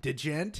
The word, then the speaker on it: Djent: Like, Djent is the D is silent, like Django.